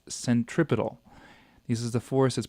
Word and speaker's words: centripetal: means Central and then the last part of the word is pedal or centripedal that's how you normally pronounce it it's a centripetal force it's the force towards